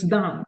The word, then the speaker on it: DAEM: Is it DAM or? It's DAM. Yes. DAM.